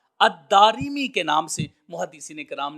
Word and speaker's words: الدارمی: آپ فرماتے ہیں بکسر الراء، یعنی الدارمی را کے کسرہ کے ساتھ ہے۔ اس سے معلوم ہوا کہ جو الدارمی کا لفظ ہے، اس کا جو تلفظ ہے وہ دال کے اوپر زبر، پھر الف، پھر را کے نیچے زیر، الداری، پھر میم اور پھر یا، الدارمی کے نام سے